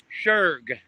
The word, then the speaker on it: Schurg: Schurg, Schurg. Just act like the C ain't in there and sugar boy.